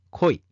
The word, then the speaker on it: 鯉: 左側がタラで、右側が恋だ。恋も海の魚ではないよ。タラは魚辺に雪で、恋は魚辺に里だ。